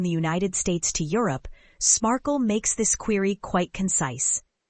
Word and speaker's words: SPARQL: Pronounced Sparkle, Sparkle stands for Sparkle Protocol and RDF query language.